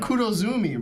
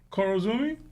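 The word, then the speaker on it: Kurozumi: you said but you were saying the last name wrong so you thought you were saying that other last name you said Kudo Zumi bro yeah I'm with it though Coro Zumi that's kro and there no there's no women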